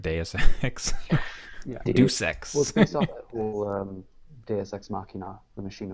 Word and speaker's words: Deus Ex: sec deus ex sorry i always pronounced the due sex until i heard deus ex deus ex machina the